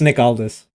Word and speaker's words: Aldis: It's Nick Aldis. How you I pronounce know I it?